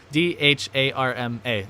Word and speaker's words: dharma: It's like D-H-A-R-M-A, and the R is the duh, so it's dharma.